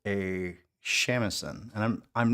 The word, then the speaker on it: shamisen: I pronounced it shamisen, but I'm not sure about the correct pronunciation.